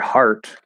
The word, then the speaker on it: heart: Like the word heart is spelled with EA, but this breaks almost everything. Like ear is usually ear, but EA, it's often E, but it could possibly be A, like in great. Could be a couple different things, but having EAR be pronounced R is like, wow, like really even this EA can be pronounced as more of an ah sound.